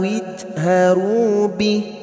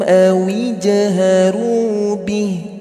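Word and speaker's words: اجهروا به: Nah, huruf jim harus memantul. Ya, jangan sampai bacanya wa asirru qawlakum aw jaharu bih. Salah. Karena banyak yang baca seperti itu. Ini Ustadz akan menjawab pertanyaan teman-teman semua dengan cara baca yang kebanyakan orang bacanya salah. Ya, huruf jimnya punya sifat qalqalah.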